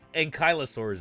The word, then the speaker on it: ankylosaurus: it an enosa but ankylosaurus is how we pronounce it as American dinosaur pale I remember